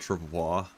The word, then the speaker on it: travois: Actually, I always pronounce it true uh uh char vois. That's how I always pronounced it. If you look it up in the dictionary, it says it has both pronunciations. It has char vois and tra vois in the dictionary.